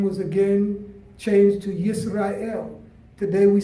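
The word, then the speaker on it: יִשְׂרָאֵל: Jacob and his name was again changed to yes or il today we say Israel but in Hebrew we pronounce it as yes or I am and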